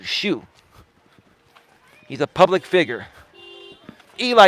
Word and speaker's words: Xu: door Dash Tony Shu it sounds like what you wear on your feet but it's spelled XU Tony XU shoe he's a public figure